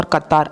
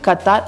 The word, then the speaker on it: Qatar: It may sound like there is stress on the first syllable, she says, but that's because QAF is a strong starting sound.